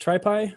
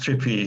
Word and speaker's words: TripPy: Is it pronounced tripy or trippy? It's pronounced trippy, yes, but it's a bit confusing. Very good. We call it trippy because it's also implemented in Python.